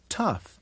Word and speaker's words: tough: night right light bright at the end of some words gh makes an F sound like in laughs and in tough and rough and even in cough one more time okay